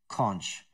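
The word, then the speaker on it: xonsh: I even run the weird shell that is called Z-O-N-S-H, but it's pronounced conch.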